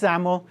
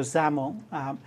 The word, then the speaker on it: XAML: And it's pronounced XAML. Kind of sounds like you're pronouncing with a Z. So XAML.